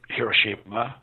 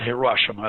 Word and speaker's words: Hiroshima: the atom bomb like Hiroshima it's not Hiroshima that's a new liberal pronunciation Hiroshima to get that